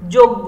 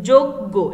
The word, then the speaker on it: যজ্ঞ: তো যোগ্য, এখানে দেখো দুইটা গ চলে এসেছে, ঠিক আছে, পরের গয়ের উপরে চন্দ্রবিন্দু মানে আনুনাসিক করে উচ্চারণ করতে হবে একটু নাকের মধ্যে থেকে, যোগ্য।